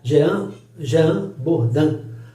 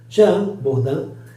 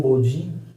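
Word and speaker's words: Jean Bodin: Tem depois Jean Baudin, você vai pronunciar Jean Bourdin. Jean Bourdin, ele ou Baudin, se está em português não tem problema, né?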